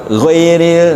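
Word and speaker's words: غير: Ee seperti tadi koreksi waktu kita alfatihah bukan ghairil magdub menjadi bukan ghairil kan jadi dua harakat tapi ghairil. Nah ghairil gitu.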